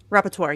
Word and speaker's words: rapporteur: If the United Nations, how do you pronounce it? Rapporteur, yes.